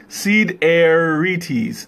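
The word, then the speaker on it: σιδερίτης: One good thing about Greek is the word is usually sounds like it how it's spelled. So Sidereus is Sidereites.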